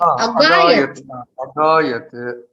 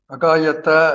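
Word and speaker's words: अगायत्: Agayat. Agayat na. Ek nimisham Mahoday. Agayat nasti. Agayat asti. Oh. See, because you are not to pronounce this halantam.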